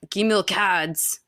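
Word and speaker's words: Gimilkhâd: much as he could um and then yeah gim cads sorry that's the way you say his name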